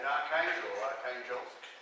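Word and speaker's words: Arkhangelsk: a North Russian expedition, and Archangelsk, as the Russians pronounce it.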